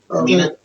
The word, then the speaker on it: Kamina: Kamina? Kamina.